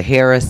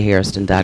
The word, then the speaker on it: Hairston: st 0 n com because sometimes i get the harris sometimes i get the hair of sun so it is is a Hairston calm they can call my